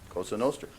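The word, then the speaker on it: Cosa Nostra: by what other name kosanoster like your pronunciation too my Sicilian wife would be very impressed all right number 21.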